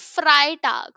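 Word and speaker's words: Freitag: take the case of fry tag so EI is pronounced as I fry T So this trick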